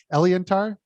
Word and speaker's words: Eliantar: this this fictional series am i saying it right when i say elianthar elliot yes ellie edtar tell us